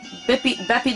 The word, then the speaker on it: Beppi: Beppi the Clown.